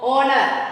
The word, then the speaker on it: honor: The first letter is silent H. So you have to take, see here next letter. O, honor, honest, our. Right?